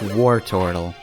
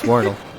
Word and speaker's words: Wordle: like, no, it's pronounced Wartortle. But no, it's Wordle. It's a worm and a turtle.